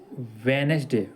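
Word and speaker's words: Wednesday: ट्यूसडे फिर second है वेनसडे वेनसडे ये नहीं होता वेनसडे होता है वेनसडे डी ई डी N silent होता है वेनसडे हो जाता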